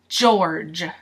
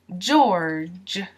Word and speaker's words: George: for pronunciation you have George which means you're gonna do the jaw jaw sound jour you don't pronounce the e Georgia Georgia and you don't pronounce this e either so Georgia George George George George now